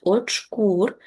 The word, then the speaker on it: очкур: Зверніть увагу на наголос. Очкур.